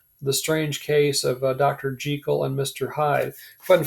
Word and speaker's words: Jekyll: because like i said it's an old scottish name but as soon as it was published in america we got it wrong and started pronouncing it jekyll and hyde and um it just sort of stuck at least on this side of the atlantic right but it's supposed to be jekyll right so when you're talking about it you can show people you're in the know by pronouncing it correctly but anyway um you